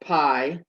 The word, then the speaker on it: pi: common ones pie called pie it sounds like the word pie or it's spelled like the word pie but without the e uh it's approximately 3.14